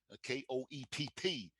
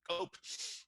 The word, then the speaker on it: Koepp: For example, David Koepp, Koepp. I was saying to him, he's so famous now that people actually pronounce his name correctly. They used to call him Cope.